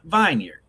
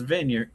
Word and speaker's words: vineyard: Preston thinks vineyard is pronounced vineard. Argue with everyone in the room who was like Preston is vineyard.